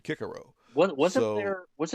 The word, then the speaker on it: Cicero: pronounce the words so we say cicero but the latins you know the romans said kikerow what was it there